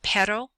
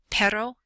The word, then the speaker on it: perro: hotel and then the the single R is pronounced sort of like a d you just tap your tongue up the tip of your tongue up at the top of the roof of your mouth behind your teeth so we have perro perro and Raton Ron and uh